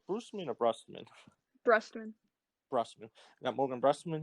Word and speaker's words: Brustman: How do I pronounce his name? Brustman or Brustman? Brustman.